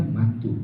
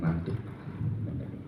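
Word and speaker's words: Mantoux: yang ketiga adalah mantu ini bacanya mantu bukan mantuk sama kayak bukan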